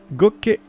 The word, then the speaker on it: gocce: Gocce di divino. Gocce di divino will let you No. rendezvous with a sentinel in your dreams. Oh, no. That's... Gocce. Gocce. Gocce. Two C's is gocce.